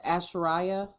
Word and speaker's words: Asherah: I think you pronounce it the Asherah. Asherah.